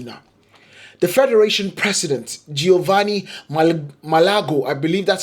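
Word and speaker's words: Malagò: But Maldini, who had only been handed the power to choose the coach 2 weeks earlier, and Leonardo overruled Malago Malago. Yeah, that's how you pronounce it.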